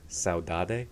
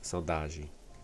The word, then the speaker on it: saudade: It looks like saudade, but it's Portuguese. It's saudade. No, that's not it.